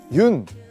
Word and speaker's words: 윤: 여기 보시면 흙이 있는데요 많은 분들이 아마 그 윤 이제 윤이라고 읽거든요 연이라고 읽으실 수도 있고 뭐 여러가지 방법으로 화백 님의 성입니다 그래서 외국에서는 윤이라고 많이